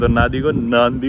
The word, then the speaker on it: Nadi: I pronouncing it as Nandi. Its because in Fijian 'd' is pronounced as 'nd' so if there's 'd' in the spelling it will be pronounced as 'nd' So, Nadi is pronounced as Nandi here.